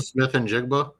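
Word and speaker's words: Smith-Njigba: that Jackson kid, I don't know how to pronounce his last name. I'm sorry. Oh, Jackson Smith and Jigba.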